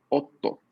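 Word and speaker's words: おっと: Entonces, esta es la vocal O, esta es la sílaba TO, este es pequeño tsu indicándome que la primera consonante de la sílaba siguiente se lee doble, por ende, yo esto lo pronuncio otto.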